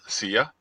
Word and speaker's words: CYA: One is called SIA, which is spelled CYA.